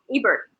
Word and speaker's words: Ebert: Ebert. Is it Ebert? Am I saying it correctly? Yeah, Ebert.